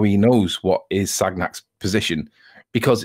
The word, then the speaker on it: Sagnac: The Sagnac experiment, or Sagnac, if you want to pronounce it the way that the French say it, it's not easy to